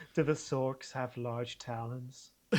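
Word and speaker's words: Sawk: We would say sorkc either way. I have to say, but for Americans, it's sork or sark.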